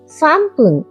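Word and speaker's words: 三分: 1 minute ইপ্পুন, 2 minute নিফুন, 3 minute সামপুন, 4 minute ইয়নফুন, 5 minute গোফুন, 6 minute রপ্পুন, 7 minute নানাফুন, 8 minute হাপ্পুন, 9 minute জিউফুন আর 10 minute জিউপুন।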